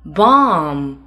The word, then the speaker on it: bomb: MV 结尾 B 不发音。Climb, bomb, tomb.